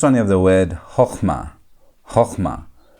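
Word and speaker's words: חכמה: So, it's going to be hochmah.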